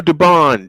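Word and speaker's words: Dubón: Uh to bat for the Astros will be Jeremy Pena, Cam Smith, and Mauricio Dubone. 67 and 8. Uh Dubon is the correct pronunciation.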